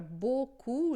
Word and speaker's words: beaucoup: Então, se você vê, por exemplo, a palavra beaucoup, né, esse E aqui a gente não pronuncia, e o AU vai fazer som de O.